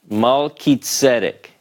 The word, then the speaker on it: Melchizedek: chi, like Chizedek, because this is a hard sound, more like a K. We know this is Mal, Ki, Tzedek.